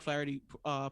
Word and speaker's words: Flaherty: Wait, how you pronounce his name? Flaherty? Jack Flaherty? Yeah, my man Jack Flaherty pitching tonight.